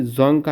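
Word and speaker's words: Dzongkha: जोंगखा, यहाँ पर D silent, जोंगखा है भूटान की।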